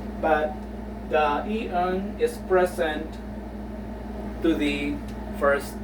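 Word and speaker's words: 이응: Okay, so always remember, if the E-ung, if you see E-ung prior to a vowel, it will have no sound, so you just have to pronounce the vowel.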